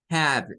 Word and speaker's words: have: La siguiente es con have. Estas tienen el sonido have y nótese que esa E no suena.